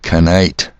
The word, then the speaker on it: knight: And they have the silent letters like knight.